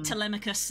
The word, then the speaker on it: Telemachus: are two different things see I have different pronunciation to you because I listened to an audio book and they pronounce it yes I think the way you're saying telemarket is actually correct telemachus and telegenous is how they pronounce it I think that is actually technically correct I just can't change